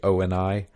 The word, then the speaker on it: Oni: the the Oni um and I think that's how it's supposed to be pronounced because he he says it specifically o and I even though it's Oni and he says it's also and only is a Japanese